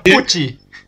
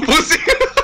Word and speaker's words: Pucci: Güey, sé de qué personaje me habla, pero su nombre se pronuncia Pucci. No, Pussy.